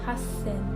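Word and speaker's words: 八千: So we have an exception here with small 2 and S, hassen.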